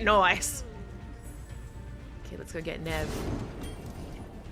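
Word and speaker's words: Neve: okay let's go get Nev I realiz I've been pronouncing it wrong but been saying Neeve this whole time oh hey babe what's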